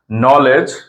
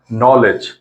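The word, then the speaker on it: knowledge: উচ্চারণ হবে না নো নলেজ কে এর পরে এন আছে কে এর উচ্চারণটা হবে না নলেজ নি মানে হাঁটু নাইট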